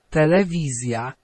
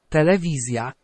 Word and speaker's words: telewizja: Okay, now, is it S-y sound or Z-y sound? Now, it's an S-y sound. If it's an S-y sound, then we'll do S-J-A. Okay, let's listen to both of those in the Polish. Telewizja. Telewizja. Depresja. Depresja. Okay, and you can make out that, hear that Z-y sound and hear that S-y sound there as well.